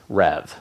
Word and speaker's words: RHEV: market so what is Rev so Red Hat Enterprise virtualization really long name we usually shorten it down to one syllable Rev but in a nutshell